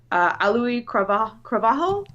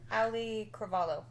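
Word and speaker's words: Auliʻi Cravalho: And the original voice of Moana, and I apologize if I get her name wrong, Alui Cravajo? Is that how you say her name? Ali Cravalho.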